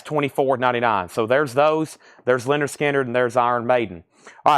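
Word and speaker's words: Lynyrd Skynyrd: this is Leonard Skinner's first album a puzzle pronounced Leonard skinnard that's $24.99 so there's those there's Leonard skinnard and there's Iron Maiden All right so let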